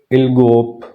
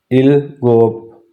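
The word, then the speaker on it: 일곱: सिक्स को पढ़ेंगे युत और सेवन को पढ़ेंगे इल गोप इल गोप येय साथ लिखा भी इ गोप फिर उसके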